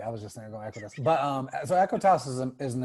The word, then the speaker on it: Equitas: Am I saying it right? Equitas. Yeah. Equitas. So can you talk a little bit about Equitas real quick, since I know that you're friends? And it is Equitas.